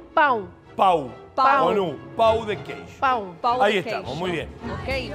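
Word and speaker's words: pão: ¿Pao? No, hay una acentuación arriba. Ah, mirá. Esa no la teníamos. Bueno, pero... Pero la pronunciación... Pau.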